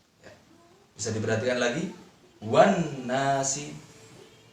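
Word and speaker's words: والناس: Adik-adik bisa lihat di situ ada alif lam. Ya, setelah alif lam ada huruf nun. Nah, kita tahu bahwa nun adalah huruf samsiah. Maka cara membacanya harus lebur atau tidak terbaca. Seperti ini. Wan nasi. Wan nasi. Alif lamnya ada tetapi tidak terbaca.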